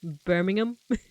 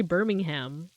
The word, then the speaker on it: Birmingham: pronounced like Birmingham like you don't say the H Birmingham but here in be America we say uh we say Birmingham like birming big ham